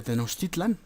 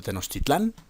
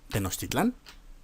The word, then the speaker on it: Tenochtitlan: y fortificaron la ciudad de tenochtitlán perdón de tenochtitlan no sé por qué insisten en pronunciarla mal pero tenochtitlan porque porque pensaron que